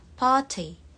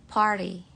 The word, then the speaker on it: party: Kalau yang British itu T-nya kita masih ucapkan T, party, party. Kalau American, party, party. Jadi T-nya lebih kayak huruf D.